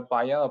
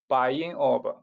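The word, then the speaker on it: Bayan Obo: in the world, the Bayan mine. Actually, Bayan is a Mongolian pronunciation. It means a rich, sacred mountain. Its true pronunciation is like this, Bayin Orb.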